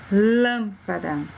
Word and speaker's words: lâmpada: Nesse primeiro exemplo, lâmpada. Ouviram bem o som? Um som fechado, onde fica para dentro, como que a gente estivesse fechando a sílaba.